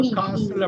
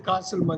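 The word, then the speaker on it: castle: படிக்கலாம் காசில் இதுல கேஸ் இப்ப காசில் அப்படிங்கறது யுகேல வந்து காசில் யுஎஸ்ல காசில் ரெண்டு இடத்துலயும் இந்த டிய உச்சரிக்க மாட்டாங்க இந்த டீயை உச்சரிக்க மாட்டாங்க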